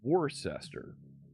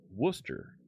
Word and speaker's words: Worcester: The next township over is spelled that way and and we call it Orcester. I know the town in Massachusetts they pronounce Worcester.